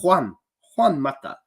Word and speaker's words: Juan Mata: Juan Mata. Good Spanish pronunciation, if I do say so myself.